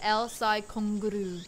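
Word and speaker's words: El Psy Kongroo: So that's pronounced because it's a weird Japanese thing. You pronounce it El-Sai Kongru.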